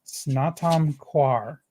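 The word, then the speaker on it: Snatam Kaur: of all my favorite artist her name is snatam kwar and it's spelled s-n-a-t-a-m and her last name k-a-u-r and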